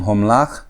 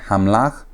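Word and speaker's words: הָמְלַךְ: Remember I'm saying homlach and not hamlach because that one is a kametzatuf. Remember on the vowels, it's in a closed unaccented syllable. That shua is closing the syllable and so it's ho instead of ha.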